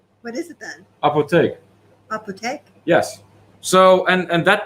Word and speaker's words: apotheek: The Dutch word for apothecary is so similar to English, but the syllables are different. What is it then? Apotheek.